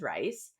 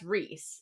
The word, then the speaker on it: Rysand: I think I googled it because I was like, "There's no way that it's Rysand, because everyone says rice." And but when I read Reese, I was like, "That's Reese."